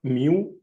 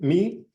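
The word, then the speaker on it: μ: them me cars me like the Greek letter mu which is pronounced in Greek me and the area here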